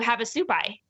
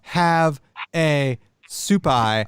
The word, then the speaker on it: Havasupai: Havasupai, Havasupai. Yeah, you have to look at photos. You Oh, probably- I thought it was like have a supai, like some sort of soup.